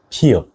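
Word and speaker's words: ㅍ: And the next one is 피읍, which sounds similar to English P sound.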